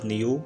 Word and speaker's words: knew: इस सेंटेंस में लफ्ज़ knew में K साइलेंट है।